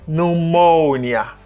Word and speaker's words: pneumonia: Pneumonia. Okay, on dit pneumonia. Pneumonia. That's great. Pneumonia. You can try it. Ou capable essayer. On nous fait en même temps. Pneumonia. Pneumonia. Accent sous deuxième syllabe là.